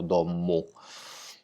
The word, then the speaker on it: domu: questo, raddoppiano abbastanza, quindi è scritto domu, ma noi pronunciamo dommu, no?